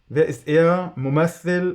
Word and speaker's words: ممثّل: "Mumaththil" (ممثّل) or "mumattil" when we pronounce it in Moroccan Arabic, "the actor" (الممثّل), "who is he the actor" Ok, don't ask about the syntax here for now.